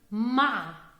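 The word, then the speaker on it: مع: of goodbye master llama pay attention to the word ma ma which means we'll here you have the sound of ah-ah and this is the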